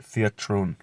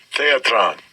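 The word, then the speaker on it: θέατρον: Right, theatron. Let's just check the pronunciation. Strong's G 2302. Theatron. Theatron.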